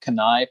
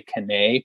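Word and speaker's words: Cannae: talking to me about kanai pro gear spelled c-a-n-n-a-e so a lot of people will say kane pro gear i think it's actually pronounced kanai um but i heard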